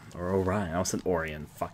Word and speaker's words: Orion: course well of course they're pronounced Orion right my name is and Orion is Oh Gemini thank you very